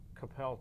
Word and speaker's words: Coppell: You didn't put the emphasis on the syllable. Coppell, Texas. Coppell, Texas. Good. Thank not you. Not Coppell.